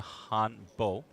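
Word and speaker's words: hanbok: they're wearing I believe the Garment is pronounced the Hano spelled hanok traditional clothing from South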